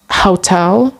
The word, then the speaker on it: hotel: And there were an exception in this rule, like in the word hotel for noun, which is the stress is not at the first syllable but at the second syllable.